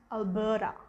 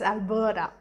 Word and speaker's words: Alberta: alberta but it's pronounced alberta so the ta becomes a da so it's alberta then of course one